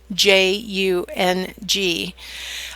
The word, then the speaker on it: Jung: If you're interested in Carl Jung, it's spelled Jung.